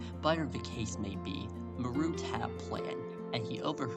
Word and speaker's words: Marut: Actually, his name was Marut. That's how you say it. Marut. m a r u t a root like ma your root.